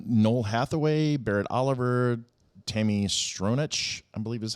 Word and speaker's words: Stronach: Noel Hathaway, Barrett Oliver, Tammy Stronach, I believe is how it's pronounced, Patricia Hayes, Siler Brahman, and we'll go